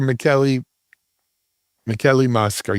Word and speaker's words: Michele Mosca: Dr. Michele Mosca, yes? Did I say it right? Perfect.